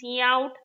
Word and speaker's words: cout: Cout is pronounced as cout, cin is pronounced as cin.